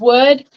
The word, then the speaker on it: would: pronounce these words so this one is wood the L we do not pronounce it so wood kind of like you know like wood like w o d it's pronounced the same that still sucks okay the wind is blowing um so we have would the L is not pronounced so would should could